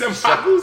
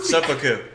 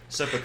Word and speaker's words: Seppuku: He's senpaku. Seppuku. Seppuku, is that how you pronounce it? Yeah, I think so.